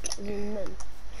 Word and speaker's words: Boseman: Just say Chadwick Boseman. Like a bow. Boseman.